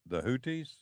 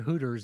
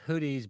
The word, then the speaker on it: Houthis: You were telling me about one of the most dangerous situations, the Houthis. Do I pronounce that correctly? Correct. Houthis. All right. Would you please? It's not Hooters, it's Houthis.